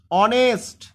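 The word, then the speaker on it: honest: এখানে উচ্চারণটা করো সকলে অনেস্ট দেখো প্রথমে এইচ থাকলে ও থেকে উচ্চারণ শুরু হচ্ছে প্রথমে এইচ থাকলে ও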